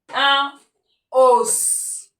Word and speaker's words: os: Il se prononce, il se lit, il se fait entendre.